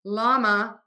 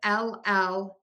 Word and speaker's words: LLaMA: And then LLaMA, the spelling is confusing. It's spelled with LLaMA. And we don't have this like double L sound at the beginning of words in English. So we just use a regular L, llama, llama.